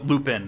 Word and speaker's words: Lupin: yeah which is awesome his name is not professor lumen if you're a nerd oh like us uh lupin not lumens we both said it wrong but yeah yeah um